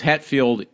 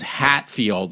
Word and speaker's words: Hetfield: that he met James Hetfield like one-on-one, like he's like friends with James Hetfield. But the guy didn't know how to say his name correctly, so he called him James Hatfield.